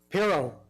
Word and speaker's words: Piro: Our next speaker is John Puro. Piro. Sorry, John.